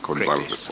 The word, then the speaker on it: Gonçalves: But the way you pronounce the surname is you don't pronounce the V. Gonçalves. No, you pronounce it Gonçalves.